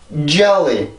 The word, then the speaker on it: jelly: jelly, jelly, jelly. 한 번 더. jelly, jelly, jelly. 네, 이렇게 해서 소리가 나요. 그래서 우리나라 말은 젤리, 젤리 이렇게 발음하지만 영어에서는 젤리가 아니라 jelly.